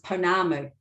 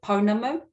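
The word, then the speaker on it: pounamu: then hear this difference what you often hear even on on tv sometimes is panamu can you hear the difference there ponamo panamu so it is a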